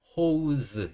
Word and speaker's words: hose: ose 흐 ose 합치니까 hose ose 이렇게 되겠죠 스의 의미는 우리 물 호스 알죠 호스 예 그렇죠 이렇게 수돗물 연결해서 쓰는 그 호스 호스를 영어에서는 어 호즈 이렇게 발음이 조금 다릅니다 그래서 우리가 호수라는이 단어도